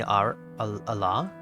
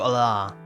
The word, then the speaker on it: Allah: Please call me Allah. If you're wondering how to say it, it's like alarm. So Allah.